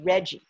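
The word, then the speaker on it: RGGI: our state right now it's called reggie spelled with capital letters r g g i reggie stands for the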